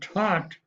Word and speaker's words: taught: Okay, in other words, like the word taught, where the AU is now an ah sound, and then we have taught is spelled T-A-U-G-H-T, and there the G-H-T is t, or t sound, okay? Taught, A-U-G-H-T, now is t, taught.